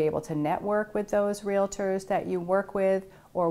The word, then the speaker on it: REALTOR: to think about that it is a two-syllable word realtor and if you hear someone saying real latour please in a gentle